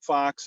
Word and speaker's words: Faux: So as many of you heard, my name's Faux. It's spelled F-A-U-X. So if you know French, you know that means false or fake.